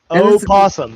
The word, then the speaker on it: opossum: No, opossum. That's opossum. 2 syllables. Possum or 3 syllables. Possum 2 syllables.